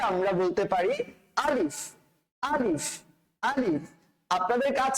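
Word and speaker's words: ألف: আলিফ, আলিফ উচ্চারণ করার সময় আটা হবে শক্ত, তবে শেষের দিকটাতে ফায়ের উচ্চারণটা বাতাসটা বের হয়ে যাবে, একটু নরম হবে। শুরুটা শক্ত, শেষটা নরম। তাহলে আমরা বলতে পারি আলিফ, আলিফ, আলিফ।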